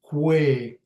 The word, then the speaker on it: kwe: With this one here, kwe, sometimes I use the Q, kwe. See, kwe has a Q sound there.